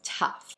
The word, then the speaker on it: tough: O-U-G-H, the word becomes tough. En este caso, el O-U-G-H suena similar a la letra A y termina con una F fuerte.